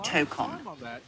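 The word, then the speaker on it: Tōkon: Okay, if you mean the new PlayStation game, it's called Marvel Tokon Fighting Souls, pronounced Marvel Tokon. Emphasis on that first syllable.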